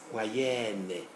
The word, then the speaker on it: moyenne: All these affixes in yellow will be pronounced as un in the masculine, but oro in the feminine. So we get moyen, moyenne, doyen, doyenne, chrétien, chrétienne. They are all oral in the feminine, but nasal in the masculine.